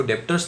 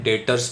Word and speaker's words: debtors: डेटर्स यहाँ खास ध्यान रखना है, बी जो साइलेंट है इसको डेप्टर्स नहीं पढ़ना है, क्या पढ़ना है? डेटर्स पढ़ना है।